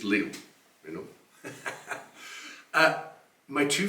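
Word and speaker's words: Lille: um Chone Festival in Le in northern France um I always find it interesting when Americans say Le France because to it's just Leo you know uh my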